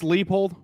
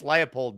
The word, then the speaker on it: Leipold: Was it Lance Leipold?